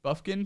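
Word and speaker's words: Bufkin: that's available from Michigan Kobe Buffy is that how you pronounce it yes buffkin from uh Michigan sophomore 35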